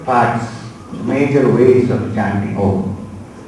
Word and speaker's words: Om: The two major parts, major ways of chanting Om. One is to have a long first syllable, which is A. Start with A, go to U, and end at Im.